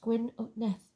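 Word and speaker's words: Gwyn ap Nudd: the hunt or even Gwinn at nud pronounced gwi of neth King of the fairies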